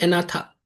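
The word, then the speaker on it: Agnatha: इसको बोलते हैं एनाथा। ठीक है? अनाथा अनाथा या अनाथा अनाथा या एनाथा जी साइलेंट है ठीक है और ये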